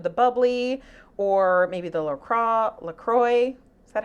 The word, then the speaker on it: LaCroix: to some of the bubbly or maybe the LaCroix. Is that how you say it? Yeah, LaCroix.